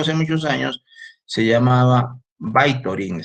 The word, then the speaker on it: Vytorin: muchos años se llamaba Vytorin, se escribe Vitorin con V, con Y, VY, así pueden poner en internet, van a encontrar entonces este medicamento que se llama Vitorin, Vytorin, VY, Torin, Vitorin. ¿Ya?